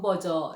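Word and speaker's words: Berger: 우리 한국어 번 번 영어로는 존 버거 라고 하고 발음을 좀 버저 라고 하는 이 좀 버거 내지는 좀 버저 예 모델은 2 자본주의의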